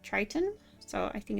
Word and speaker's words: Triton: So this little one right here, I was told it's pronounced Triton, like Triton.